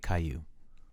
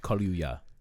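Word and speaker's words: Kaluuya: black i'll say it daniel kai caillou no it's it's it's kali kaluya fair enough like la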